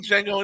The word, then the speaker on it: Django: The D is silent. yeah. Oh, am I the only one who's seen Django and Shane Deer?